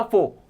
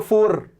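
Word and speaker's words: four: जैसे मैंने बोला फोर तुम बोलते हो फोर। फर्क है हम दोनों में। आपको भी कैसे बोलना है? फोर उसमें आर को थोड़ा साइलेंट रखना है।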